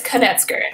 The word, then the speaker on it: Knetzger: It is Knetzger, right? That's I got the pronunciation there? It's Knetzger.